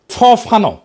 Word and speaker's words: ফানো: ফরাসি আলজেরিয়ান চিন্তাবিদ ফানো ফানো নাম আসল উচ্চারণটা।